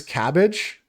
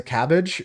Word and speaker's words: CABG: coronary artery bypass grafting it's pronounced as cabbage a cabg is a cabbage and they just call